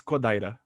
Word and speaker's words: Kodaira: off the subject but my name and your name paulo it's spell sounds the same but spelled different how do you say your last name oh yeah uh it's kodaira and mine is kudera